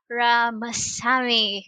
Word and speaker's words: Ramasamy: group of companies ramasamy good day did i pronounce my last your last name right i forgot to ask earlier yeah you got it right uh you got it